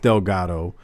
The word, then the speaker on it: Delgado: is right and it's it's it's it's it's pronounced Delgado but back when I was younger people would